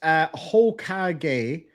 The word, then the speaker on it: Hokage: It's pronounced Hokage.